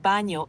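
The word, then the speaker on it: baño: D Bano the word Bano is pronounced B with a soft n sound like in the English word Canyon can you try saying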